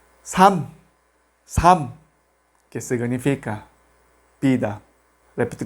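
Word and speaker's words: 삶: Solamente pronunciamos la segunda consonante m. Sam, sam, que significa vida.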